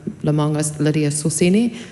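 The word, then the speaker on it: Lemauga Lydia Sosene: I believe it's um Lemongus Lydia Soseni.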